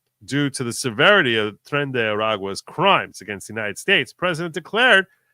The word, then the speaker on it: Tren de Aragua: de Aragua, which Pisco told me how to pronounce that, Tren de Aragua, are liable to be apprehended and removed under